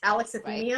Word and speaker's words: alexithymia: Look, I think that and I may mispronounce this, alexithymia.